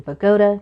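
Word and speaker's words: Bogota: to go back to December 12th 2018 in bagoda New Jersey yes that's how it's pronounced it was a cold Wednesday night and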